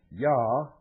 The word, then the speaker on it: Jah: Yah, J-A-H, the first syllable, represents the name Yahweh, or Jehovah, the name of the God of Abraham, Isaac, and Jacob of the Bible.